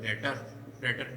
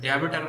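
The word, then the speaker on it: debtor: और बेटा इसको डेटर भी बोला जाता है, डेटर, डेबिटर नहीं बोलते हैं इसको, डेबिटर नहीं बोलते हैं इसको, बैड डेब्ट नहीं बोलते हैं इसको, बैड डेट ही बोलते हैं। इस तरीके से इसका प्रोनाउंसिएशन होता है, ठीक है।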